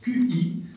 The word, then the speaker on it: qi: une autre catégorie, alors le français dirait QI, mais ce n'est pas QI, c'est qui et comment ça se prononce ? Qi.